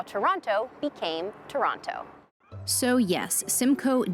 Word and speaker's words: Toronto: there's one more thing a Surefire way to let on that you're a tourist is to say Toronto locals say Toronto they don't pronounce that second tea you can even get